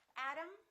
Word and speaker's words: Adam: me o'clock doctor photography let's look at one more word adam adam exactly the same pronunciation this syllable is stressed this syllable is stressed this o is reduced this a is reduced therefore they are the same sound and remember t between two vowels sounds exactly like the d adam adam let's practice a few